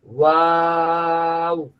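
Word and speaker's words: واو: ওয়াও যখন টান হবে, ওয়াও এই শেষে একেবারে স্টপ হয়ে যাবে। ওয়াও ওয়াও, এই শেষে ও বলে ধরে রাখা যাবে না।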